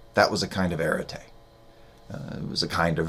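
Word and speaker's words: aretē: years of me studying philosophy I used to pronounce this arit until somebody who knew Greek corrected me and said no that's that's irate um erity the Greek word in ancient Greek just meant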